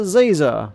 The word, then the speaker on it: Ziza: it on on purpose it's professor ziza like laser with a Zed how hard is that